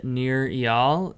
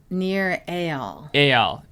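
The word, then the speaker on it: Nir Eyal: um the baby of a man named uh near eol did i did i pronounce his name correctly no you did not please correct me it's near near ale although it's kind of spelled eel but he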